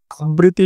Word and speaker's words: আবৃত্তি: আবৃত্তি শব্দের প্রমিত উচ্চারণ কোনটি? উত্তরটি হবে আবৃত্তি। বাংলা একাডেমী প্রমিত বাংলা উচ্চারণ অভিধান অনুযায়ী আবৃত্তি শব্দের প্রমিত উচ্চারণ হলো আবৃতি।